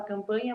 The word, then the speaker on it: Campagna: E para quem tiver dúvida, a Carina já falou dela, o meu Instagram também é fisio.carlacampagna, com G mudo, se fala campanha, mas se escreve Campagna.